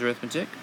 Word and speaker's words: arithmetic: Yes, it looks like arithmetic and spelled the same as arithmetic, but this time we say it arithmetic sequence.